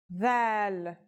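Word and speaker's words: ذال: This letter is like the TH sound in the word this. Do you remember that we learned another letter corresponding to the English TH sound? It was tha, and it's pronounced as a silent TH, as in thief. This letter's pronunciation is a voiced sound, the, as in this or that. It's pronounced with the tongue between the upper and the lower teeth.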